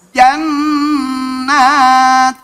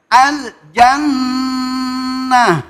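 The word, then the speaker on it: الجنة: Ketika ini dibaca, ini taknya pakai apa namanya? Hamas. Jannat. Gitu ya. Coba bareng. Siji loro telu. Oke. Terus yang kemudian yang satu akhirnya huruf H. Bacanya al jannah.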